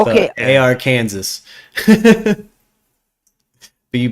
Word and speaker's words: Arkansas: Zimmy, that state right there, Arkansas. Okay. AR Kansas. But you pronounce it Arkansas.